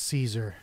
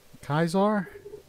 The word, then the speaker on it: Kaiser: dog that dog is Caesar or Kaiser kaisar that's how you pronounce it the old style everyone knows Caesar though so it's a dog